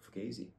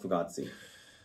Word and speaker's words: Fugazi: friends the owner of fugazi brand fi so it's fugazi not fugatti uh my accent is